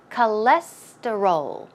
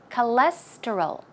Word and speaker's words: cholesterol: time pronouncing this word the stress goes right here on the second syllable so it's cholesterol cholesterol cholesterol cholesterol okay faster cholesterol and basic the reason